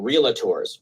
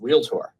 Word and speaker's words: realtor: industry at all because that's not how you say it. It's realtor. It's not realator. There is no a in there.